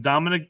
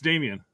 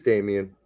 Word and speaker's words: Damien: You keep saying Dominic Downs. What's his name? Damien. I keep calling him Dominic. That's what Untouchables. I just assume you're saying it right. No, I got it wrong. Yeah, it's I almost said Dominic too there. Dang it. It's Damien. It is Damien.